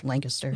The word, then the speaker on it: Lancaster: Connecticut who was like, just say it like you're bored, Lancaster. Because I was like, Lancaster. She's like, Lancaster.